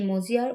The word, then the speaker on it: মজিয়া: তাই আহমর শব্দ হয় আর এ মজিয়ার উচ্চারণ মজিয়া এ উচ্চারিত হয় মজিয়া শব্দ আমি যদি